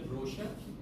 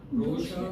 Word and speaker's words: brochure: all that you know how do you spell brocher yeah Brer huh brochure mispronounced city is mispronounced you know